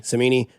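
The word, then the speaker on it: Cimini: Rich Samini. Samini.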